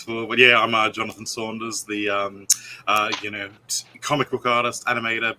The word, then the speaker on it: Saunders: First off, we have Jonathan Saunders. I hope I pronounced that correctly. Yes, no, that's correct. As long as you don't pronounce it as Sanders, we're all good.